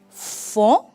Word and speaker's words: font: Ils font, tampoco pronunciamos la T.